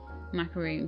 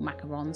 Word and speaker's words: macaron: before i started is where it's actually still pronounced macaroon even though it's like written macaron ah okay arctic fox we